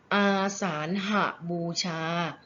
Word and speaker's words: อาสาฬหบูชา: คะ เรา จะ อ่าน วัน นี้ ว่า วัน อาสาฬหบูชา เป็น คำ 5 พยางค์ นะ คะ ตั้ง ค่า